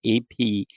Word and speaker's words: Apted: What is on my mind is that the British director Michael Apted, and I think that's how it's pronounced, Apted, just passed away, and he has directed a number of movies.